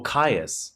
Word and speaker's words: Caius: Oh, Caius. Is that not Chaos? No, it's Caius.